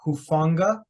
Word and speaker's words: Hufanga: I think he pronounces it Hufanga.